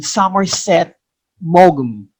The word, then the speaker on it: Somerset Maugham: We pronounce his name Somerset Maugham.